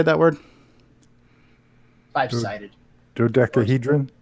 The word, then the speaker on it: dodecahedron: Dodecahedron? Dodecahedron.